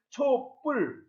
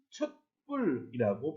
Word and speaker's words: 촛불: 예, 초와 불이 합쳐져 만들어진 단어 촛불은 촛불 또는 촛불이라고 발음을 합니다.